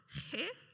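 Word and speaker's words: ხე: He holds one of the tree's long bean-like fruits. How do you say tree in Georgian? He, Aleksandre or his wife or I reply. How? He? Yeah, he. Okay, he.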